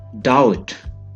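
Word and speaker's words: doubt: डाउट, शक, डाउट। डाउट का मतलब है शक। डाउट में बी साइलेंट है।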